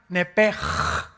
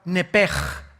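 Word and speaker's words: נפש: La palabra, la letra o las letras sh en del hebreo se pronuncian en hebreo como J. Entonces se pronuncia nepj.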